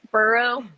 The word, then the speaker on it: Burrow: But Jamar and Burrow, there's no S. There's never been an S.